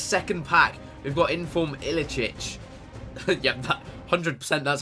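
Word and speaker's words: Iličić: We've got Inform Ilicic. Yeah, that 100%, that's how you pronounce it.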